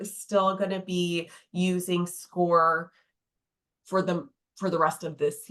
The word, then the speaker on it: Scoir: Yeah, and for Vernon Hills, we use a software platform called Score. It's spelled SCOIR.